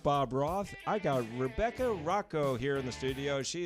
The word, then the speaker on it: Rocho: It's spelled R-O-C-H-O, so people... Rocho. Rocho. No, But Rebecca it's like Rocco. Rocco.